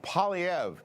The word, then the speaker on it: Poilievre: Apparently, it's pronounced Poilievre. I would never have guessed that. You're Poilievre.